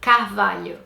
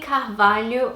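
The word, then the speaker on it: Carvalho: me that name number seven is the name calf value and this is a really difficult name for English speakers to pronounce I tried to get my husband to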